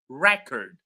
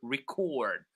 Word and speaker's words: record: All right, so for two syllabic words, when it is a noun, we stress the first syllable. So, for example, contact, record. But when it is a verb, we stress the second syllable, contact or record.